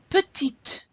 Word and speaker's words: petite: Petite, petite. I really want to hear you pronounce that final T so I know that it's feminine.